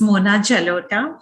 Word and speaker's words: Mona Jalota: uh thanks um sana i would like to correct my name it's mona jalota so that's the right pronunciation okay okay and um